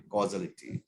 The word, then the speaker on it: causality: uh spelled uh pronunciation causality or casualty causality normally causality is the right way of pronouncing this okay if uh a